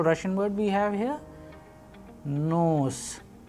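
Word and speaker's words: нос: Sample Russian word we have here nose, nose, which means nose.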